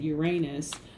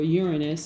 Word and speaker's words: Uranus: And I shared with you information about the planet Uranus, or Uranus as some people pronounce it, and how Uranus and Taurus affects you specifically, Taurus.